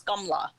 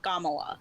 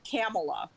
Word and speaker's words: Kamala: hindi speaking individuals is gamla without the extra the other a is kind of silent but then there's this